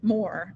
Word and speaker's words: Maur: of good saint bennet or saint maurer more i guess because it's supposed to rhyme with ignore as old and strict